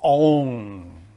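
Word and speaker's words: און: impels the matter that force is called V is pronounced on which is the sexual potency or the virility on and if you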